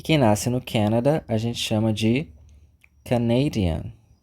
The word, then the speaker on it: Canada: nós temos o Canadá Canada aquele convite né Canadá Vamos pra piscina É exatamente esse som Canada Canada e quem nasce no Canada a gente chama de